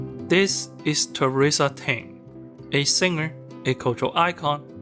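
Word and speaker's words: テレサ・テン: Now, I want you to take a wild guess as to how her name is pronounced in Japan. Tou Re Kun, right? On'yomi? It's "Teresa Ten".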